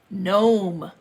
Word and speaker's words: gnome: everyone was excited especially gnome notice how it says G and om e the G is silent no men as the students headed outside mr.